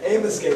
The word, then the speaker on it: Amoskeag: Amoskeag. Yeah, that's how you pronounce it.